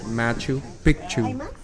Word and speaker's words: Machu Picchu: so don't say it wrong just say it machu picchu there are several mountains that you can hike